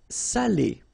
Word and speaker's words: salé: So if you don't put the accent, it means dirty, and then you pronounce it sale. But in that case here, okay, you put the accent, and it's quite important because in that case it means salted, okay?